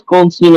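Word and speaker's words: Golesh: So, Well, it's the first game in the Alex Goldstein era, or Goldstein, or how you say his name. Alex Golish. Golish, right? Mm-hmm.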